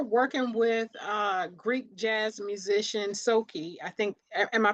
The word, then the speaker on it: Soki: Now you're working with Greek jazz musician Soki. I think, am I pronouncing his name Yeah, correctly? that's right. That's right. Soki.